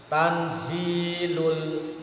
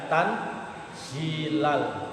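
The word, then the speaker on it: تنزيلُ: Tanzilul, nah itu loh. Tidak tanzilal, bukan, tapi tanzilul azizir rahim.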